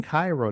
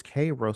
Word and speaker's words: Cairo: said oh I said oh I'm in Cairo they said no it's Koo so I said oh